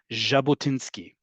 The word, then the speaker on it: Jabotinsky: is a hard J, you have the soft J as in Jabotinski. Right? Remember, Jabotinsky didn't come from a place where they said Jabotinski. They came from a country and a um region of languages that have the equivalent in English of zu. Think of French how that sounds.